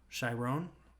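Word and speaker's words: Chiron: is it just Chevron how do you say it Shiro shyrone like Tyrone Blowfish oh okay I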